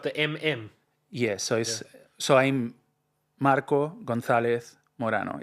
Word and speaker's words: Marco: So people pronounce it like Marco, but it's Marco. Got to roll the R, Marco.